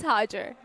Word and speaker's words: Hajir: So, please say your name because I already forgot the pronunciation. No, it's Hajger. Hajger. Yeah, simply Hajger. Hajger. But you're Dr. Hodger.